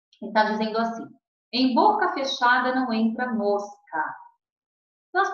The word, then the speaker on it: boca: Então, é o caso da boca, que eu falo boca. Não falo boca, falo boca. A palavra fechada, ó, fechada.